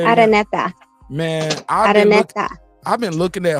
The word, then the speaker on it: Araneta: Pronounce his last name for Araneta. You have to roll your R. Araneta.